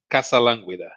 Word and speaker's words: Casalanguida: It's not you knowing how to stress syllables in a Latin language. It's Casalanguida.